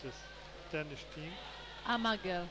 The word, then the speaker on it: Amager: How is this pronounced, this Danish team? Amager. Amager.